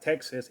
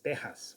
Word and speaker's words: Texas: nevada or nevada and it's not texas it's tejas with the j not with an x anyways so yeah